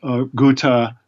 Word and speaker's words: Ghouta: the big one in Ghouta, or Ghouta as it's pronounced in Syria, in August 2013.